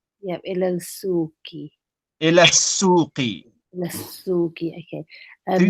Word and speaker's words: إلى السوق: Again, remember, Zara, the scene is a sun letter. So you Oh, don't pronounce the lam. yeah. إلى السوق. Ila suqi.